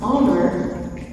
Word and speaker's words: honor: When you pronounce honor, we don't hear a consonant sound. Honor, honor. We hear the sound of the letter O.